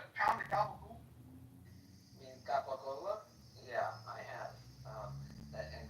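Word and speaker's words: capocollo: I mean, Capocola? Yeah, I have. And gabagool is a stupid thing to say when you can say Capocola.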